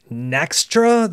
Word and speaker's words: Nextra: the marketing department who came up with the name Nextra. That's how I heard them pronounce it.